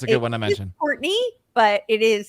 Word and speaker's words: Courtenay: Courtenay, but it is spelled Courtenay.